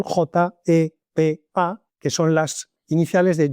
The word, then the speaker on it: JEPA: era la famosa GEPA, pronunciado en español, J Pa, que son las iniciales de joint embedding predictive architecture, es decir, arquitectura predictiva de vectorización conjunta, podríamos traducir al español.